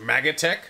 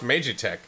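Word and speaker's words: Magitek: It's pronounced Magatech? No, it's pronounced Magitech.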